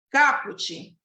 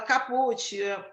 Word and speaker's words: caput: incisos e a linhas caput Tem muita gente que fala caput a pronúncia correta é caput o que que é